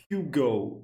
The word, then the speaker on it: Hugo: Whenever they make an advertisement for Yugo Boss on the TV, they're always saying Hugo. Hugo. Hugo boss. Sounds very French the way they say. I I'm not doing the best I'm not doing the best accent, but yeah, I always thought it was just French.